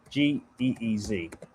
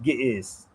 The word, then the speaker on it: Ge'ez: g e e z It's called It's pronounced Ge'ez.